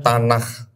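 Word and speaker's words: Tanach: Nama kitabnya Tanakh.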